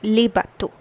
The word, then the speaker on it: bateaux: So the pronunciation for bateau remains the same. The difference lies is this le gets converted to le, that is, the change in les articles is observed, and an extra x is added over here. This au becomes aux over here, and the pronunciation remains the same for the two.